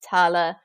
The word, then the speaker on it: tail: So the word tail was pronounced tala.